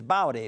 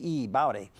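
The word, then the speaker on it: Baute: Her family name, it rhymes with Howdy, so it's Bowdy, B-A-U-T-E, Bowdy.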